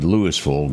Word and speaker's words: Louisville: It's supposed to be Lewisville, but they for some reason call it Louisville.